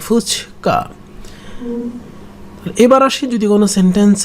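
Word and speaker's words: 二日: লিখতে কিন্তু ওরকমই যে 2 আর হচ্ছে মান্থের ডের চিহ্ন, তার মানে সেকেন্ড ডে, কিন্তু উচ্চারণ হবে ফুচকা।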